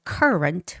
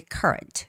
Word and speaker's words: current: So, it's current with the first syllable stress. The stress goes on you. So, it's got to be current.